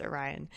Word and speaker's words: Orion: I think we had just met Orion, the mail character. Did I mispronounce his name in the last clip? I hope I didn't, but if I did, his name is pronounced Orion.